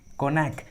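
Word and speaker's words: cognac: है तो जी साइलेंट होता है, जी का उच्चारण नहीं करते। फॉर एग्जाम्पल साइन, फोरेन, कोनैक, देखिए तीनों इंग्लिश वर्ड्स में जी जो है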